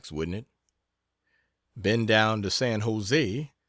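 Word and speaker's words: San José: it bend down to San Jose generally pronounced San Jose emphasis on last syll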